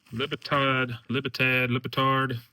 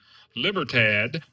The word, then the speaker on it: Libertad: O'Neill or not, but he is the Libertard, how you say it? Libertard. I think that's a different scenario. Libertad, Mexican Libertad.